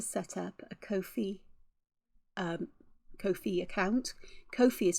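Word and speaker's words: Ko-fi: do want to set up a Kofi um Kofi account Kofi is spelled k-o-f-i and it's just an account where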